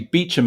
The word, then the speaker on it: Beauchamp: so as you'd indicated my name is Beauchamp but pronounce actually Beacham in the UK so uh um and